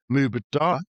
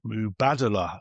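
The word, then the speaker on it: Mubadala: Dubai sovereign wealth fund which I've always called Muba should be called Mubada. In fact, they even ran campaigns to get people who weren't Arabic speaking to say it like that.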